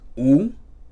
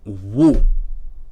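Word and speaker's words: וּ: So even the wow, meaning an, is not pronounced u, because why? Syllables must begin with a consonant. But it's rather wu, as in wulechol, wu vilvavecha, wu vabait, wu devora. Okay? And not ulechol, u vilvavecha, u vabait, u devora. But rather wu.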